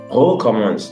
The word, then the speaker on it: recommence: For example, recommence, this word there, recommence, the E there is pronounced, but for superbe, it's at the end of the word, is not pronounced.